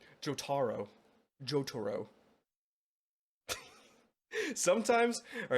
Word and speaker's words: Jotaro: imaginary blood joto thank you for helping me pronounce it correctly jotaro jotoro sometimes all right sometimes I accidentally mispronounce